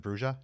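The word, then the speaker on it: Brujah: Is that how you say it? The Bruja? Yeah, that's the way they said it in the game. Oh really? Yeah. Oh okay. The Bruja. Because it looks like Bruja. They are not the Bruja, no. But then that doesn't. I mean, it is spelled that way, though, isn't it? In both video games, they say Bruja.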